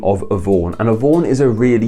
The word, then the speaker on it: Yvonne: So if you're gonna have the name Yvonne, I'm saying that how it should be pronounced, Yvonne.